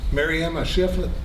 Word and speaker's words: Maryemma Shiflett: Maryemma Shiflett, did I pronounce that right?